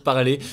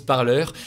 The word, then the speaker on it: Parler: social qui s'appelle parleurs apparemment ça se prononce comme ça même si on pourrait lire parler ça se prononce parleurs et qui a bondi